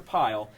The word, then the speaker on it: Paiyal: Paiyal is actually pronounced like Kyle, but with a P. So Dr. Paiyal.